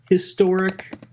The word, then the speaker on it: historic: For me, it's always been a historic achievement. It I mean, because it it is an H and you actually pronounce the H.